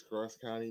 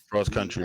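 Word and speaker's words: CrossCountry Mortgage: Cross County. You've been saying it wrong every week. I do. I say every Cross County. It's cross country. It's cross country. It's the R is right there. It's cross country mortgage.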